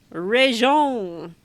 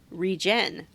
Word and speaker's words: regen: I always thought regen was pronounced reon. No idea where I got that from, but I heard it spoken during a way earlier season of Square Roots when Johnny pronounced it regen, like regeneration of your health.